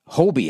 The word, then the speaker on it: Hobie: at kayaks check out hobby hobie i guess is how you say it oh like